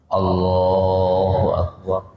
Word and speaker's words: Allahu Akbar: Kadang-kadang cuman Allah doang, akbarnya di hati. Allah, ya, barnya nggak kedengeran. Harus semuanya kedengeran sempurna. Allahu Akbar, bukan Allah. Ya Allah, dua-duanya harus diucapkan.